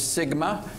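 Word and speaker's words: SGMA: sustainable groundwater management act also known as Sigma you uh you know you've come into into be real being when you are uh legislation has its own acronym and phonetic pronunciation so uh we have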